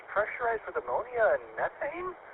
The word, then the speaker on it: methane: And it's pressurized with ammonia and methane or methane as the British say.